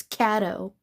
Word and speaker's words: Caddo Lake: Stop calling it Caddo or Cato. It's Caddo.